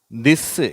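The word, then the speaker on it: this: இது திஸ்ஸு, இது திஸ்ஸு, இது திஸ்ஸு அப்படின்னு சொல்லக்கூடாது. டிஹெச் தானே இருக்குது. த அப்படின்ற உச்சரிப்பு வராது, அது த உச்சரிப்பு.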